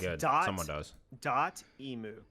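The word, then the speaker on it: Dotemu: this now oh okay it's good someone does dot emu dot emu wow you know i've heard that before too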